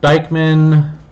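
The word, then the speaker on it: Dieckmann: look at is the Dyckman condensation for Diekmann things pronounced Aikman so Dyckman condensation this is basically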